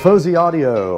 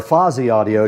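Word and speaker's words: Fosi Audio: The Fuzzy Audio or Fozy Audio depending on how you like to pronounce it is sitting right in front of me here.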